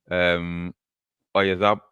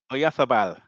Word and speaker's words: Oyarzabal: Oyazab, was it how you pronounce it? Oyazabal? Oyazabal? Oyarzabal. Right.